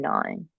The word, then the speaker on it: gnawing: Mostly because I despise the silent G in gnawing, a snotty little consonant.